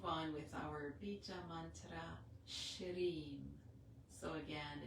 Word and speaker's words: Shreem: So again, it's a sh sound, the R with the little tip of the tongue touching behind in the little divot in our palate. That's about a centimeter behind the teeth, the front teeth. And E, a long E sound. And our with the tongue, again, the top of the tongue, this time touching the roof of our palate.